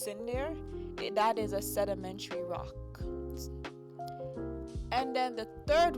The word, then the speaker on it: sedimentary: Sedimentary. Oh, that's a long word. And it's pronounced sedimentary.